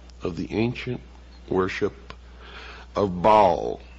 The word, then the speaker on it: Baal: the ancient worship of Baal our bail is some pronounce it ma was the Sun